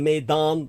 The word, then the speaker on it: maidan: for stepp S TP Eden of the Maan as in Maiden but M AE i d n Eden of the maidan the Maan being a